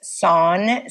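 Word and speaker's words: Sohn: credit myself here um his stage name is son so it's spelled s-o-h-n and it's like it's kind of like john but with an s right and it means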